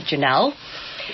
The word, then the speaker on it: Janelle: So, original, and it's ORIG, and then Janelle is spelled JANNEL, like channel and flannel, but Janelle.